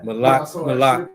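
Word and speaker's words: מלך: He said um how would you pronounce uh a king consecrated molec? So it would be malak malak.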